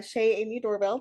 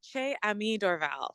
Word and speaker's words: Ché Aimee Dorval: currently here with uh Shea Amy doorbell did I pronounce that correctly uh Che Ami Dorval so Amy basically just about at least I got the first name right yeah I mean I